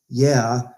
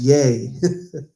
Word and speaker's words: yea: I had somebody say it's not pronounced yeah it's pronounced yay I said yeah why